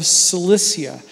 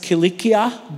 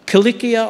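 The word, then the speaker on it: Cilicia: you will notice that the English language prefers a soft C Sound the S sound for that c instead of the harder C sound which is really how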